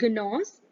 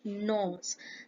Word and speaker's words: gnaws: This is not gnaws, it is gnaws.